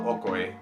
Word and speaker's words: okoy: favorite snacks or mariendas the dish is called okoye or ukoi depending on how you want to pronounce it and for some historical